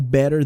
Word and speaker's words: better: que então Better Than perceba que esses dois Ts meio que estão fazendo esse sonzinho de R meio corridinho né tipo Pedro ó better better e não better better